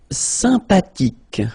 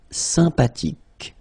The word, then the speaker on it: sympathique: Sympathique. Remember the H is not pronounced. Sympathique.